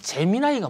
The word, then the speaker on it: 제미나이: 하면서 애플이 제미나이 사악했다 제미나이 이게 발음이 좀 에미나이고 비슷한데 이게 아니고 재미나요 재미 아닙니다 오해 소지가 있을 수 있는지 모르겠으나 재미입니다 그렇게 물어보는 댓글이 있어요이 재미나이가 무슨 뜻이냐면 라틴 쌍둥이